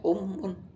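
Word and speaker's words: أمٌّ: Bukan ummu, bacanya ummun.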